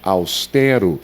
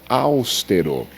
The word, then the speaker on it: austero: A palavra austero e não austero.